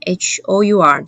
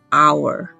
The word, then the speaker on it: hour: 那完全不发音的状态下会像 hour 这个字 hour 而不是 hour，不是，是 hour，或是像下一个字 heir air。